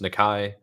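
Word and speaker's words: Nikkei: It is pronounced Nikai, and Ooh.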